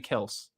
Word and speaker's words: Kelce: This like years ago like it's kind of like what Travis Kelce was like that's actually Kels.